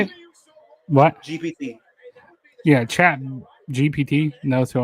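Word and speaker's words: ChatGPT: Chat B Chat BTE is it? No. How how do you say it? What? GPT.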